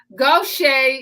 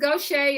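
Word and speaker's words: Gauthier: we're in Southeast Texas so Goshay is spelled g-a-u-t-h-i-e-r so um Mrs Goshay is in her 21st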